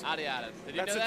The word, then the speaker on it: Adidas: Did you know that's not the way it's pronounced? Adidas. Adidas.